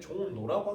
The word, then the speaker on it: 종로: 근데 발음을 편하게 하면 종로라고 하겠죠.